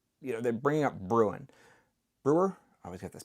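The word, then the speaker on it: Bruen: get this backwards whether it's brewin or brewer um brewin which is the uh 2A argument 2A only or brewer whatever that case somebody tell me brewin or brewer because I'm going to keep saying it wrong. Breuan, thank you.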